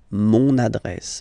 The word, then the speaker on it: mon adresse: my address, mon adresse, mon adresse. Okay, you can hear now this little link, so you get to pronounce this N.